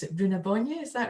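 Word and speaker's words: Brú na Bóinne: son, and Newgrange being, and I'll try and pronounce it, Bruna Bonye, is that right?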